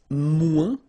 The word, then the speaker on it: moins: Then if you want to say less, it's moins in French, so no discussion about the S here, don't pronounce it, okay?